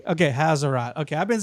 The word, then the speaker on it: Haserot: So let me just real quick, as I hear you speak, Maurice, is the correct way to say the name Haserot like a Z or S? Haserot.